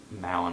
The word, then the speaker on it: Malin: Malin is how you say her name, but I can't.